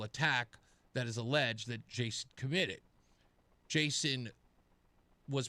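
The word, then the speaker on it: Jaishon: by the name of Jason uh Bellamy. And Jason's name is spelled different. Uh it's a kind of a variation of a name. Uh spelled J A I S H O N.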